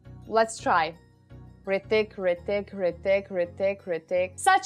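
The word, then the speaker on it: Hrithik: H is silent. Okay, I got that message a lot and I'm trying, guys. I mean, I'm practicing. Like, let's try. Ritik, Ritik, Ritik, Ritik, Ritik.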